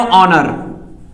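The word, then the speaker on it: honour: क्या इसको लिख सकते हैं, नाम इसका भी सुने हो, ऑनर। क्या लिख सकते हैं हम, ऑनर लिख सकते हैं, ऑनर, एस साइलेंट होता है इसमें, तो ऑनर यानी सम्मान।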